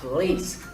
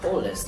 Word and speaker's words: police: Pay a lot of attention to the stress patterns because this word is pronounced police, not police like other people might say.